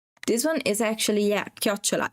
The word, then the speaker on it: chiocciola: This one is actually, yeah, chiocciola.